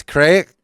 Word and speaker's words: craic: But it's crack.